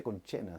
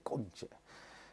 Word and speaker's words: concha: No se dice concha, o sea, no se dice conchena, se dice concha.